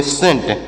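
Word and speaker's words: scent: सी देखिए कैसे देखिए एस सी ई एन टी तो यहां पर सी साइलेंट है तो एस से पढ़ेंगे श ई से एक ही मात्रा न से पढ़ेंगे न टी से ट तो इसे पढ़ेंगे सेंट इसे क्या पढ़ेंगे इसे सेंट पढ़ेंगे इसे स्केंट या फिर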